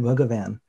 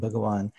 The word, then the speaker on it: Bhagawan: You might be accustomed to spelling it with a V, but when people see the V, they know that V is pronounced differently, right, than a W.